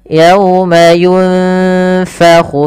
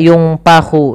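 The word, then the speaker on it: يُنفَخُ: Ayat yang terakhir, yauma yunfakhu fis suri fatatuna afwaja. Yunfa, ini ikhfa. Samarkan bibirnya, posisinya gigi atas menempel bawah. Yunfakhu fis suri. Hati-hati jangan dibaca yungpahu, jangan pakai p, tapi dia f.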